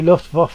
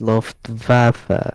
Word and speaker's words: Luftwaffe: I think it's pronounced Luftwaffe instead of waffle.